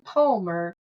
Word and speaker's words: Parmer: website it's just Palmer. Now when you when you type in Palmer it rhymes with farmer but it starts with a P. Yeah. If you put in Palmer you will get something